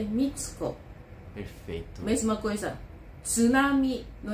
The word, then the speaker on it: tsunami: uma palavra que inclusive recentemente ouvindo sendo pronunciado de um jeito assim que dói aos ouvidos né Ai eu também ouvi você ouviu esse noticiário na Repórter falando tsunami hum escrevemos quando escreve e t ess u para nós é t